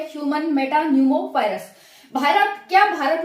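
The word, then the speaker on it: pneumo: न्यूमो virus ठीक है न्यूमो इसी इसी को है ये साइलेंट है इसमें पी तो न्यूमो वायरस है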